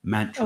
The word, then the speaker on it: mantra: Mantra. That's the correct pronunciation is mantra, and I always I get so many of the pronunciations wrong with it.